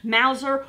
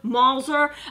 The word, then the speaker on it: Mauser: Now I've heard this pronounced two different ways, Mauser, Mauser.